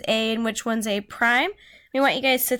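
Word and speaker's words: A′: actually pronounced as a prime that's how you say this you don't say a apostrophe it's not the number one it's not a - it's a prime so make sure you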